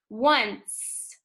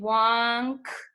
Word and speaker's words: once: Once. You hear the C right here? That's a soft C. Otherwise, we would read it wonk. Doesn't make a hard sound, it makes a soft one.